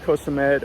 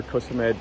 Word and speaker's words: Koh Samet: It's pronounced Koh Samet or Koh Samet, depending on who you have say it to you.